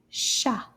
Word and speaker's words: chat: Chat. These 2 letters make the sh sound, and the T is quiet. Shh. We don't say the T at the end of this word.